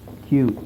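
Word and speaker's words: queue: ಕ್ಯೂ ಅಂದ್ರೆ ಸಾಲು ಸಾಲು ಅದರ ಉಚ್ಚಾರಣೆ ಬಂದು ಕ್ಯೂ ಆದರೆ ಅದರ ಸ್ಪೆಲ್ಲಿಂಗ್ ಬಂದು ಕ್ಯೂ ಯುಇ ಯುಇ ಏನಂತ ಕ್ಯ ಯುಇ ಯುಇ ಕ್ಯು ಬಟ್ ಯು ಇ ಎರಡು ಸೈಲೆಂಟ್ ಆಗಿರುತ್ತೆ ಓಕೆ ಫೈನ್ ಸೊ ಇದು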